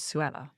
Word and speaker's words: Suella: don't where Sue Ellen because also Suella did you think about that you know in politics rhymes with Kruella and and people could